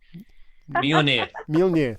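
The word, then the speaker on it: Mjölnir: Mjolnir, thank you. Yes. Maybe one of your lightsabers. Right. Nice. They're in the nice, other room. nice. Stars on it. Okay. No, I like Okay, Mjolnir.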